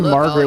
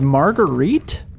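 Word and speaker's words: Marguerit: fangled Gadget can see her name is margarite I did not know that I I've been saying her name wrong this whole time oh man Margaret you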